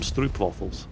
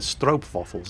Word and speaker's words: stroopwafel: Netherlands that bring me I always mispronounced this I keep calling them stroopwafels they're strobe fossils apparently but anyway food and